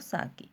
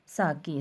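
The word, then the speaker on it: sake: सा is pronounce like फा इन father, and के राइम्स विद वे, जैसे फादर में फा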